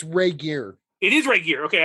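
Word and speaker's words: Regehr: And it's Ray Gear. It is Ray Gear. Okay, I would have pronounced it right. Okay, good. Duncan Ray Gear.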